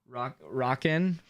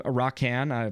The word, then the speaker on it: Rockan: By the way, you were close enough to saying my name right. Rockin. I'm Rockan. Maybe, I don't know if there's an emphasis on the A there, but thank you.